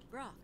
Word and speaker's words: Brok: It's Pork, of course. No, it isn't. Brok, Chief. I thought you knew each other well. Yes. What? Just what I thought. You can't pronounce it.